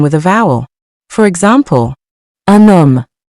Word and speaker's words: un homme: For example, un homme. Notice how the N carries over because the word starts with a silent H. Let's pronounce it together. Un homme.